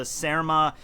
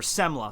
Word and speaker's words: semla: past with the the smma uh things or semla sorry semla oh my God I